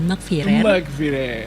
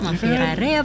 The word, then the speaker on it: Maghfirare: Halo teman-teman, nama aku atau biasa dikenal juga dengan Makfirer. Iya, Makfirer bebas sih sebenarnya. Itu sering banget ditanyain orang, bacanya gimana sih Kak? Makfirare apa Makfirer?